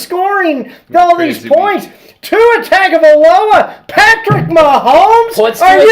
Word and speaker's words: Tagovailoa: There's no N in it. It's Tagovailoa. That's how it's Hawaiian. That's how you pronounce it.